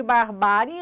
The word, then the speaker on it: barbárie: Na palavra barbárie, a sílaba tônica de barbárie é ba, penúltima, acentuada por terminar em ditongo crescente IE.